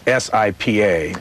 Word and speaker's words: Sipa: It's SIPA. What is that? What's the... Well, that's shorthand for a wonderful Turkish journalist. It's pronounced Sipa, and his name is Gökşen, G-O-K-S-I-N, Sipokoglu.